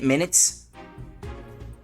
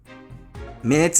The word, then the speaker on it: minutes: means in this context how do you pronounce it minutes as in notes um when it means notes minutes okay minutes it's not minute like in minute detail I guess it's like